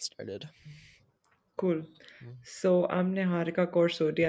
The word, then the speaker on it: Niharika: So I'm Niharikaa Kaur Sodhi. I know that's not very easy for everyone to pronounce. So it's just Niharika.